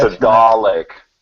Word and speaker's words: Dalek: Dalek from Oh yeah, Doctor Who. yeah. Oh, Daleks. Yeah. Yeah, See, Michael gave you the correct pronunciation of that. it's a Thanks, Mike. Dalek.